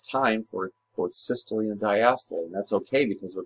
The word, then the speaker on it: diastole: Diastole, pronouncing that E on the end, is the relaxation phase.